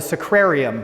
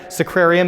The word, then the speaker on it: sacrarium: pour that water into a sequarium is that pronounced correct sacrarium is a sink that